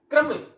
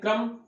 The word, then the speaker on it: क्रम: क्रम क्रम का अर्थ यहाँ पर कवि कर्म के रूप में ले रहा है। ये देखिए इनका उच्चारण आप देखें, यह तो एक तो है क्रम, दूसरा है कर्म।